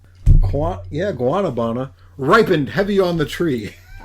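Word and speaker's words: guanábana: Swollen, rising like dough through kneading touch or guabana. Yeah, guanabana. Ripened heavy on the tree. Can you spell that?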